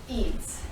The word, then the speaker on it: Eads: Eads, Eads. Yeah. E-A-D-E-S. exactly. One syllable.